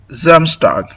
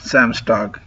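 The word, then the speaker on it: Samstag: uh clarify that uh in Deutsch uh S is called as Z and Z is pronounced as S. So uh we will pronounce it as uh Zamstag not Sam.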